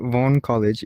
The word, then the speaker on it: Vaughn College: Because I heard Vaughan College, but I feel like I'm butchering it myself. No, you're saying it right. Vaughan College.